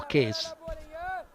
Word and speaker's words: Qais: What's the proper pronunciation? Qais or Case? We usually pronounce it Qais Ahmed. Qais, so I'm right. I'm okay. And if you call that Qais Ahmed, that's also okay. Absolutely, no worries about that.